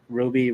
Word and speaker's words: RWBY: uh confident yeah R RWBY it's pronounced Ruby yep and there's multiple